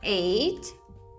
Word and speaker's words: ate: Então, sim, gente, eles têm a mesma pronúncia, tanto o 8 quanto o comer no passado de eat. Tá? Tem a mesma pronúncia. Ate e ate.